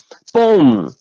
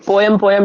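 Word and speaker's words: poem: ठीक, वैसे तो पोएम का करेक्ट प्रोनाउंसिएशन होता है पोम, ठीक है, पोम, है ना, पोएम पोएम नहीं करते, इट्स पोम।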